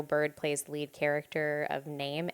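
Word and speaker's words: Naim: My name is Name. Yeah. What? He's called N A I M is the way that it is spelled.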